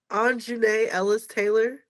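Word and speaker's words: Aunjanue Ellis-Taylor: I think it's pronounced Anjune Ellis Taylor.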